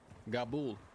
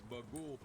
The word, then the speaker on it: Bagul: Gaboul. Nice to meet you, Gabul. Wait a minute. Was that the right? Did I say it right, Clayton? Is that the name of the demon? No, it's Bagul.